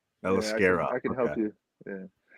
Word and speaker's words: Aliskerov: Aliskerov. Aliskerov.